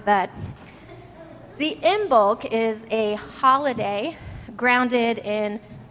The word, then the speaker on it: Imbolc: about in The Chalice lighting the holiday of in bulk folks want to say that with me in bulk I was proud of myself when I learned how to pronounce that the in bulk is a holiday grounded in the Pagan Celtic